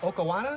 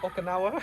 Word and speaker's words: Okinawa: I almost got a different kind, but we really like this Okawana. Is that what it's called? Okinawa. Yeah.